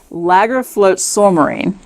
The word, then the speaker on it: Lagarfljótsormur: It's Lagarfljótsormur. Yeah, look at the word. Very good. Yeah, see, I typed it out phonetically.